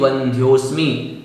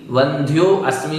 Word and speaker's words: वंध्योस्मि: इसी प्रकार नीचे भी वंध्योस्मि, वंध्यो अस्मि नहीं, वंध्योस्मि। और हतोस्मि, हतो अस्मि नहीं, हतोस्मि।